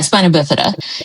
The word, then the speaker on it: spina bifida: Yeah, spina bifida.